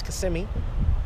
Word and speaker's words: Kissimmee: Many of you probably thought I was gonna say Kissimmee, but it's Kissimmee.